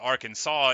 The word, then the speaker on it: Arkansas: now but uh no Arkansa is like the that's how you say it um uh but nobody who hasn't heard it would ever get it right like literally no one and there's a state directly next to us called Kansas which is spelled the same way but without the A and the r at the beginning and it is called Kansas and only Kansas and uh and that's